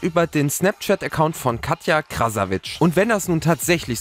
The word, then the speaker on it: Krasavice: Und die YouTuberin Katja Krasavic, beziehungsweise Katja Krasavice, wie sie, glaube ich, ausgesprochen wird, soll auch auf Snapchat derartige Bilder gefordert haben.